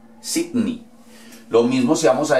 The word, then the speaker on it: Sydney: La E y la Y equivalen a una I. ¿Ok? Entonces no vamos a decir que vamos para Sydney. Vamos para Sydney. Sydney.